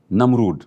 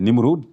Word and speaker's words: Namroud: Cette première figure, c'est Namroud. On dit Namroud, on dit Nimroud, même si dans le